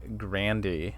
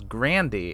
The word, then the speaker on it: Grandi: And he says grande, like how you would say the Spanish word. But then Janet Leigh immediately says Grandy, and I'm like, that's not what he said. And then everybody calls him Grandy after that, and his name is spelled Grandi. Like, it's not spelled Grandy. like grande.